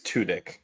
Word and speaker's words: Tudyk: I think it's Tudyk, kind of like tunic.